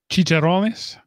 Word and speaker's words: chicharrones: I take pork rinds or how do you pronounce it correctly, Mark? Chicharrones.